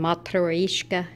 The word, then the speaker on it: matryoshka: myself, but I collect they call them matryoshka, is how you actually say it in Russian.